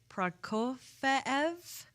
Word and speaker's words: Prokofiev: You'll hear classical pieces like, okay, I had to look up how to pronounce him. So it's Prokofiev, Romeo and Juliet, and iconic film scores including Apollo 13, which is my favorite composer, James Horner.